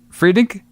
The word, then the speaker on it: Friedkin: So we have the director William Friedkin. Did I say his name right? Friedkin.